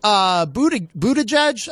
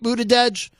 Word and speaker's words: Buttigieg: Jackson, Pete Buttigieg, I think is how you say his name, Pete Buttigieg.